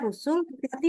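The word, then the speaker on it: رسل: oke yang kedua membaca rusulti lam di belakang enggak boleh tebal lam di belakang harus Tipis rusul Tipis ya walaupun dalam posisinya kita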